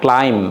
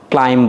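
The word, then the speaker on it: climb: না এখানে beta pronounce হবে না। ক্লাইম কি বলবা? ক্লাইম বলবা।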